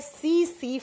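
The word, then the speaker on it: tsetse: इसका वॉक बंटी है सी सी फ्लाइट ऐसे लिखा जाता है उसे सी फ्लाइट जब प्रोनाउंस करते हैं तो टी साइलेंट साइलेंस हो जाता है सी सी मक्खी और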